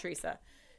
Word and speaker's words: Tresa: I always call her Tresa because it's phonetically spelled Tresa, but it's Teresa.